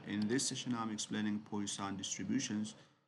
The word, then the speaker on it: Poisson: Uh dear students, uh in this session I'm explaining poan distributions as you can pronounce it like posan distribution.